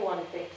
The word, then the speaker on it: Guanter: Guanter, se escribe Guanter, pero bueno, tanto en valenciano como en andaluz se dice Guanté.